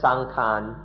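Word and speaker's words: saṅkhāra: For example, in Thailand most often sankara just means the body. People Thai people speak of sankara or sankan in the Thai pronunciation.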